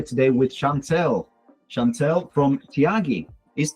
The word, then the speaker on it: Tiagi: Chantelle from Tiagi. Is Tiagi your company, Chantelle? It is, yes. Did I pronounce it correctly, or did I completely butcher it?